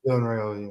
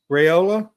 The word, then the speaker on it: Raiola: Raiola, yeah. Raiola.